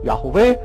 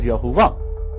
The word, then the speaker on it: Yahweh: Yahweh is a term for Yud He Vav He, which many people pronounce like myself, Yahweh. Some of you pronounce as Yahuwah.